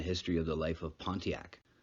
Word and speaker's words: Pontiac: of the life of pontiac pronounced wandiyak the ojibwe or chippewa